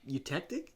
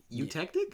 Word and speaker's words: eutectic: then I look it up sure it's they spell it e u T E C T i C s what you to a eutectic eutectic yeah eutectic is a melting composition of minimum